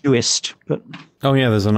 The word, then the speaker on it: Uist: I think it's pronounced Uist, but... Oh yeah, there's an I in that. Yep, it is Uist.